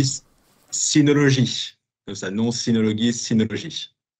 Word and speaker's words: Synology: dit synologie. Comme ça, non synologie, synologie. Ok, très bien. Donc on prononce pas à l'anglaise, on prononce vraiment à la française et on ne met pas de D.